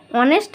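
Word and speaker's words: honest: তাহলে কি হলো, এখানে অনেস্ট, এইচের উচ্চারণটা এখানে কিসের মতো, আমরা কি জানি কনসোনেন্ট যদি থাকে তাহলে তার আগে এ বসে। এস তো একটা কনসোনেন্ট, কিন্তু এইচের উচ্চারণটা এখানে কিসের মতো উচ্চারণ হয়েছে, ভাওয়ালের মতো।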